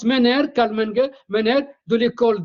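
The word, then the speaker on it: Menger: c'était l'Autrichien Carl MERER ça s'écrit menganger mer MERER avec G comme golf mais ça se prononce mener Carl MERER MERER de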